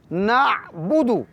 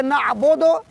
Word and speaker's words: نعبد: سے ادا کریں گے، نعبد، نعبد۔ ہاں ایک اور بات کہ اگر کوئی پڑھے نعبد، نعبد دونوں درست ہیں، مگر یہ کہ عین کے تلفظ کا خصوصاً خیال رکھنا ضروری ہے۔ آگے ہے وَإِيَّاكَ نَسْتَعِينُ،